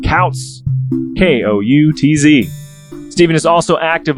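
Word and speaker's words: Koutz: important to note that his last name is spelled k-o-u-t-z i said couch k-o-u-t-z steven is also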